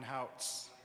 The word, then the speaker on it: Houts: I'm Ryan Houts. I'll get to that. It rhymes with shouts.